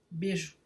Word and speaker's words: beijo: uma paroxítona, não raro, sem muitos cuidados de pronúncia, dizemos beijo, ignorando a semivogal.